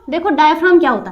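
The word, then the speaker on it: diaphragm: को भी हिंदी में डायफ्राम ही बोलते हैं वैसे, यानी वो हिंदी में इसे डायफ्राम ही बोलते हैं और इंग्लिश में भी इसे डायफ्राम ही बोलते हैं, ठीक है। जी साइलेंट होता है हमारा।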